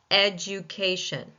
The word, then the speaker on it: education: Right before the ken in mar in education, the third syllable. Ken. Education. K. I should say not can.